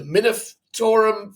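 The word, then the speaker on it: Munitorum: by Games Workshop via the balance update the minum field manual that's how you say it and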